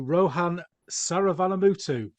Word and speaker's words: Rohan Saravanamuttu: Let's give a big warm welcome to Rohan Saravanamuttu. Thank you very much. Happy to be here. Brilliant. And pronunciation okay?